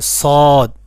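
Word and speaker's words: ص: তারপরে সদ।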